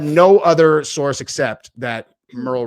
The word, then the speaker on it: Merle: And it had no other source except that Merle rhymes with squirrel.